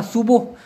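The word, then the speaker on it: subuh: মানে মূলত হচ্ছে বা সুবহ মানে হচ্ছে এস ইউবি ইউ হে উচ্চারণটা হচ্ছে সুহ সুবুহ মানে হচ্ছে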